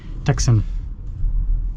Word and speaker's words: Tucson: the plug-in hybrid tuxen Tucson but if you ever forget get how to pronounce Tucson you just Texan that's what you do